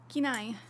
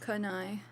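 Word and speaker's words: Kenai: Keen eye. not kai.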